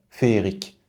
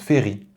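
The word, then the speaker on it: féerique: fait attention à celui-là il n'y a que le premier e qui porte un accent on entend toujours fééri féérique mais ça se prononce féri comme fit vous ne dites pas une fé mais tout va bien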